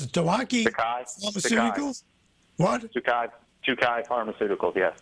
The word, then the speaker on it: Tokai: How do you pronounce it? Tokai Pharmaceuticals? What? Tokai Pharmaceuticals, yes. Tokai Pharmaceuticals, or Pharma Inc.